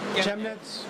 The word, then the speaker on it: Chemnitz: Team Chemnitz. Am I pronouncing that right? Chemnitz.